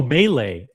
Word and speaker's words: melee: It's a me Oh, melee. It's pronounced melee.